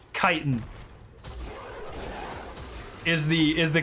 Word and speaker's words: chitin: sweatsical saying it every why do so many people just call it Shin are you serious it's chitin are you [ __